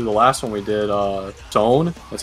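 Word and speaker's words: Sonne: As I was doing that, I'm listening to the last one we did, Zone.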